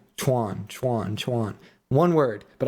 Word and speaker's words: Chuan: They're like, "No, no, it's They were trying to tell me it's Chwan, but I started saying chew on, chew on, chew on." And they're like, "It's one syllable. It's not two syllables."